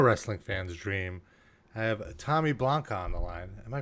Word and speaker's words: Blacha: said you're russian it's you know who says block sounds like a vampire but it means it's polish it means the metal tin or like a policeman's